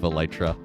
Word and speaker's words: Elytra: I am of the faction that says Elytra instead of Elytra, because that's how I first heard it from another Minecraft content creator, so I was just like, I guess that's how you say it.